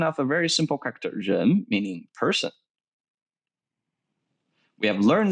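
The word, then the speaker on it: 人: is a transformation of a very simple character gem meaning person we have learned this character in our first lesson for all beginners is the gen is originally written in this way and when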